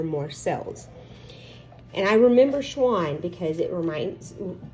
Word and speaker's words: Schwann: cells and i remember schwann because it reminds me it rhymes with swan which is an animal